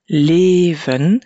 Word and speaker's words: leven: On fait aussi attention pour leven que le son est long dans la première syllabe, leven, et je dois donc garder un son long après.